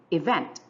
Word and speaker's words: event: We have here 2 syllables, E and vent. The first one is unstressed. The second one is stressed. Therefore, we say event. If you notice, our second syllable receives more emphasis.